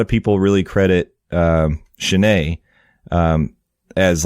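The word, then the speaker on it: Chenier: want to embarrass myself that's not how I pronounced it so yeah I'm glad I'm glad you looked it up yeah so Clifton chenet uh he was an American Musician lived from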